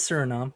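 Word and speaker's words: Suriname: I may have been pronouncing it wrong. Who knows? No, you're right. It is surinom.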